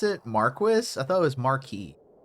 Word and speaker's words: Marquis: The Marquis? The Marquis Elmdor de Limbri was here. Is that how you pronounce it? Marquis?